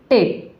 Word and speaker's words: tape: जैसे TAPE, तो इसको क्या पढ़ेंगे, इसको पढ़ेंगे टेप। ई यहाँ पे साइलेंट है, ई का यहाँ पे उच्चारण नहीं हो रहा है, तो इसको हम